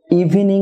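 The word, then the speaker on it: evening: family হবে family একইভাবে ইভিনিং না হয়ে হবে ইভিনিং অর্থাৎ থ্রি সিলেবল না হয়ে টু সিলেবল হবে ইভনিং ডিয়ার ভিউয়ার ওয়েটনেস ডে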